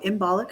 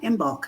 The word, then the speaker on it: Imbolc: We put out our first issue for Imbolic of 2021. Not Imbolc, excuse me. I always want to add an extra syllable there.